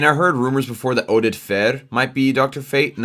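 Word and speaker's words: Oded Fehr: Well, it's kind of an Arabic Middle Eastern name, so Oded Fer. It's how you say it.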